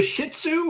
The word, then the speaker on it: Shih Tzu: Is it a shih tzu or a shi? Shihu. It's like you It's like you're sneezing. It's a Shih Tzu.